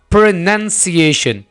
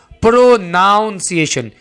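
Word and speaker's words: pronunciation: वो है यह वाला प्रोनंसिएशन क्या प्रोनंसिएशन इसको आपने ऐसे नहीं बोलना प्रोनाउंस एशन इसको आपने प्रो नहीं बनाना बल्कि आपने कना प्रोनंसिएशन रिपीट करें ना मेरे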